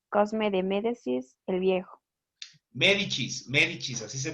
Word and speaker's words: Médicis: su hijo mayor cosme demédecis el viejo médicis médicis así se pronunciada sigamos ahora vamos a otra familia que